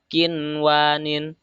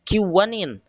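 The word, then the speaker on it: قنوان: Nah, di sini kinwanin ini nun sukun ke depannya ada waw, harusnya kan kiwanin. Tapi di sini harus dibaca jelas. Alasannya mudgham dan mudgham pihnya ini terdiri dalam satu kalimat. Nun sukun dan huruf idghamnya ada dalam satu kalimat. Maka hukum membacanya harus dibaca jelas nun sukunnya. Kinwanin, tidak dibaca kiwanin.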